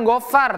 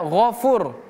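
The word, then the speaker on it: غَفُورٌ: Ini huruf ghain. Huruf ghain berbeda dengan huruf go. Misalnya kita baca go, gofur, beda, bukan gofar tapi ghaffar. Ya, ghafur.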